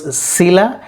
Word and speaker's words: Scylla: words sila and charybdis now how they are pronounced as c-y-l-l-a sila it is pronounced s-c-y is pronounced as c as in sit and a is pronounced as a as in china so finally it has to be pronounced as sila c is to be stressed and let us see